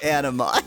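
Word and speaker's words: animae: It is indeed spelled A-N-I-M-A-E, but it's pronounced anime.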